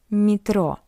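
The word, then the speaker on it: метро: And we can see that after M we have Y. That's why M is soft. Metro. Mro. But yeah is unstressed. That's why we pronounce it as e metro.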